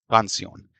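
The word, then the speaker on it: canción: अगर इसको सिलेबल में तोड़ेंगे तो दो सिलेबल बनते हैं। कान और सयन। तो क्योंकि ये एन पर एंड हो रहा है। अकॉर्डिंग टू रूल जो इसका स्ट्रेस है वो कान पर होना चाहिए पेनल्टीमेट्स लेवल पर।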